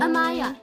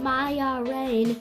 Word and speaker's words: Amaya: Amaya. You pronounced it Maya Rain in the Akinator episode.